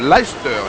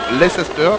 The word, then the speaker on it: Leicester: le sociétaire de Life en Angleterre pour bien prononcer le nom de cette équipe de cette ville c'est Leicester non Leicester comme disait et l'anglophone sont très attachés à